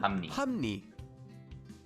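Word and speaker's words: 합리: Although it's written as hap li, when we read it, it will become hum ni.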